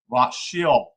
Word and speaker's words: Rothschild: That is, in German, the name is spelled Rothschild and is pronounced Rothschild.